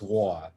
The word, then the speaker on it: Waugh: It's actually a Scottish name. Okay. So it's pronounced Waugh.